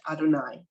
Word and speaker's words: Adonai: a nun and a year after and it's pronounced Adonai right if we go back to 106 in